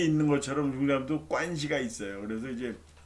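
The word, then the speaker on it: 关系: 중국 사람들 이걸 관시라고 읽어요. 관시. 관을 관이라고 읽고 개는 시. 관시다.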